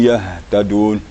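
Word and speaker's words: يهتدون: Kemudian la'allahum yahtadun, hanya kurang maksimal ya. Harus sedikit lagi, ada getaran sedikit lagi. Yahtadun, yahtadun. Ada getar di sini. Di pangkal leher.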